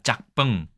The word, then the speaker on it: 吃飯: 吃饭짜 자, 짝뻥이라고 분명히 얘기하죠. 짜뻥이 아니라 짝뻥 이렇게 얘기합니다.